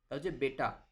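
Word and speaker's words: बेटा: বেটা বেটা কিন্তু বাংলায় আমরা ব্যাটা বলি। তো এটা কিন্তু ব্যাটা বলা যাবে না। এটাকে বেটা বলতে হবে।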